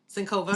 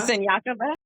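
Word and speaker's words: Siniakova: And I'm going to pronounce the girl's name wrong. Sinkova. Senyakova?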